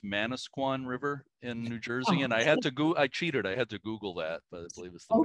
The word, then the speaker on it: Manasquan: By the way, I believe it's pronounced Manasquan River in New Jersey.